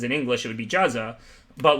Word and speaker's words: Juza: That's actually how Martin taught me how to say his last name, the way it's pronounced in Czech. His last name is Juza. So when I first met him, he wrote on a sheet of paper YOU-ZAH.